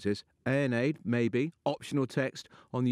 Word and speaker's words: Aeneid: How do you pronounce it? Well, you were very close. Right. Aeneid. Aeneid.